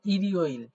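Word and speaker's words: 일요일: এই হচ্ছে ইয় ইল তাহলে উচ্চারণটা হবে ইরিও ইল ইরিও ইল তাহলে আমরা বুঝলাম এই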